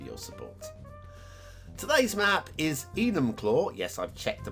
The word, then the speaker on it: Enumclaw: thank you for your support today's map is enumclaw yes i've checked the pronunciation on this one a one-to-one by a